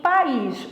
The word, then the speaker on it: país: Em país, o que que eu tenho? País, ó. Eu tenho veja bem, ó. Eu tenho país. Eu tenho dois sons vocálicos. Que ficam em sílabas separadas, que é um hiato.